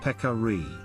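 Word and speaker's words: Pecari: American language of Carib the pronunciation of both terms is peccary tajiku appears to be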